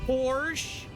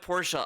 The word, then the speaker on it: Porsche: Porsche?